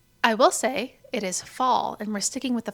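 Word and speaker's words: phở: And for anyone who doesn't know what fa is, it's spelled ph.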